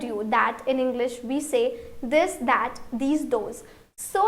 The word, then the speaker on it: ces: Please repeat sir and this is say. You cannot pronounce s here. You cannot say says. No, it's wrong. You have to say say.